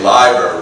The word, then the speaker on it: Leiber: And Fritz Leiber used to say, "Leiber rhymes with scriber," which is, so we need something like Dunsany rhymes with rainy.